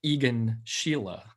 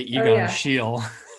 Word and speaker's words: Egon Schiele: And then you know, one of my favorite artists, and I always mispronounce his name, but I'll say it the way that you're supposed to say it, I guess. Egon Schiele. I always say Egon Schiele.